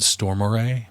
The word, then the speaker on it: Stormare: uh Peter Stormer Stormare storm stor I've heard some people pronounce it stormore but I think it's storm well that guy um